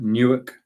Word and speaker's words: Newark: in Newark and California I always check that pronouncer all right Newark okay because the Temptation is to say something different so that's large Tech